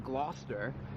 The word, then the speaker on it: Gloucester: It was originally a different location in Gloucester. Good pronunciation, you got it.